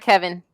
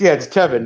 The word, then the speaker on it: Tevin: Oh, his name is Tevin, not Kevin. It's Tevin, not Kevin. Teven. It's Tevin. Tevin Campbell. Tevin. Like Tevin Campbell. Like Tevin Campbell, but Teven.